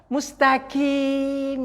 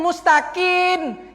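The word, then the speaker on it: مستقيم: Di ayat ini Bapak Ibu, mustaqim ini, banyak yang bertukar mim itu menjadi nun.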